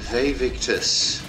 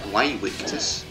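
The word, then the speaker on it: Vae victis: how to pronounce it, because I'm pretty sure Ve victus is actually incorrect. Because, you know, Latin U's were W something or other, I don't know. So it could actually be pronounced Way Victus, which seems less impressive.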